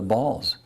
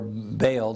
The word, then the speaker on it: Baal: and followed after the balls now ball or bale depending on how you choose to pronounce it was the pagan religion